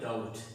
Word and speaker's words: doubt: Next आप देखें तो यहाँ लिखा हुआ है डाउट, DOUBT, डाउट। अब इस डाउट में हमने इस रूल के मुताबिक T से पहले B आया है तो इस B को हमने साइलेंट रखा है।